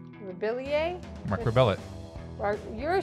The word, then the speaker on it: Rebillet: Mark Rebillier. Rebillier? Mark Rebillet.